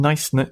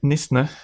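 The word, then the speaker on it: Knysna: you pronounce it n NIS NIS yeah the chaos silent in 1825 so 200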